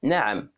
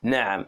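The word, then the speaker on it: نعم: the pronunciation is difficult nam so ah comes from the throat from here nam for example if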